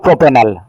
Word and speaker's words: propenal: থাকবে, ই বাদ যাবে, তাহলে একসাথে করে দাও প্রোপেনাল। বুঝতে পেরেছ? জি স্যার। প্রোপিনাল, প্রোপিনাল, PROPENAL, প্রোপিনাল উচ্চারণটা।